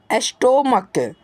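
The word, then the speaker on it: stomach: जैसा कि आप लोग इसके एग्जाम्पल्स में देख सकते हैं, जैसे एस्टोमक, जिसको प्यारे बच्चों आप लोग पहले क्या बोलते होंगे, एस्टोमच बोलते तो होंगे, लेकिन ये बोलना आपके लिए गलत होता है।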